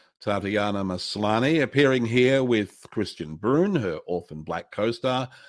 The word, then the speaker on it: Kristian: Which is it? Is it Kristian or Kristian? It's Kristian. It's a man's name.